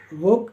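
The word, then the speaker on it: walk: F half यानी आधा डब्ल्यू ए एल के वोक यानी टहलना एफ ओ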